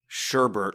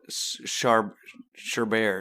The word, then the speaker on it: sherbet: i'm smoking sour banana sherbet or would you call it sharp sure bear chaubey from jeopardy that is pronounced sherbet sherbet that was what i was going for sherbet i didn't know they